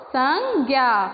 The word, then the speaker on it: संज्ञा: स के ऊपर मात्रा, अम की मात्रा, उसके बाद ज्ञा, तो संज्ञा होता है।